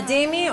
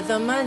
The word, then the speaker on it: dhimmi: A dhimmi or a dhamma, depending on the pronunciation, is a tolerated people.